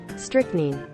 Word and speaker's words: strychnine: of reading recent recent uh publications on it strychnine strychnine really strychnine that's what we're going with huh strict nine wait strict name okay so in the uk